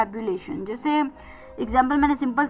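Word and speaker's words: ebullition: बहुत ज्यादा इमोशन और एक्साइटमेंट से भरपूर हो, उत्साह से, जुनून से भरपूर हो तो उसे हम कहते हैं एबुलेशन।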